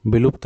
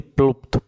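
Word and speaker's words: प्लुत: देखिए विलुप्त, विलुप्त नहीं, प्लुप्त, प्लुप्त, प्लुप्त स्वर जो है उच्चारण में दीर्घ स्वर से भी अधिक समय ले लेते हैं।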